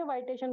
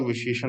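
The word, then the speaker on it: vitiation: सर इसको विशेषण बोलेंगे, वाइटेशन बोलेंगे? इसका प्रोनाउंसिएशन तो विशेषण होता है। अच्छा, क्योंकि मैंने बहुत सारी जगह वाइटेशन पढ़ा हुआ देखा है ना, इसलिए मैं थोड़ा सा कंफ्यूज हो रही थी। एक्चुअली जो प्रोनाउंसिएशन है उसके अंदर साउथ के प्रोनाउंसिएशन में और अपने नॉर्थ के प्रोनाउंसिएशन में डिफरेंस है।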